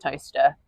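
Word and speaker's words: Towcester: But because our place names are weird and they're ancient, it's pronounced toaster.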